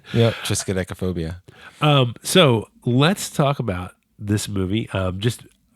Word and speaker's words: triskaidekaphobia: I'm a tristodexophobia. God, I don't know why I have trouble saying that. You have a pronunciation phobia.